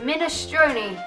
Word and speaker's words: minestrone: on a PS so let's start the beginning minestrone is how you say it I don't like